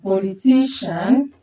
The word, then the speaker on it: politician: So you can see this level before I A or C I A N are stressed.